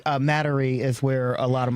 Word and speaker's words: Metairie: I never pronounce it correctly. Metairie is where a lot of my family reside. Metairie.